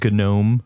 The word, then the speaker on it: GNOME: It It's pronounced Gnome. Yeah, we might say Gnome just to piss people off.